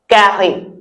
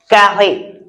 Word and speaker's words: carré: The first shape that we will look at is un carré. Un carré. Mhm. Can you pronounce it out the way I said it?